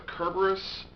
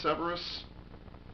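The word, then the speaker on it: Cerberus: that is the I prefer to cut the Kerberos Khepera Severus Severus it's been pronounced a number of different ways over the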